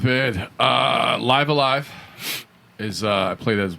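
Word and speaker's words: Live A Live: Live Alive is I play that as well. Is it Live Alive or Live? Live Alive. It's Live Alive.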